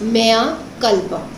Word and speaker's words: mea culpa: The pronunciation is mea culpa. It's a Latin phrase.